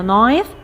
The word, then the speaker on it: knife: grandma قالت له yes of course you need a knife to cut it. محتاجين سكينة knife. طبعا هنا key silent مش بتتنطق.